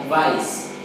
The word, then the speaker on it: advise: We pronounce this sounds letter Z, like advice.